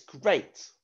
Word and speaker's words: great: one that's right it's great what's the tricky part in great it's the af a that would normally make an e sound wouldn't it but